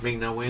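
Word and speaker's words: Ming-Na Wen: Ming Na Wen.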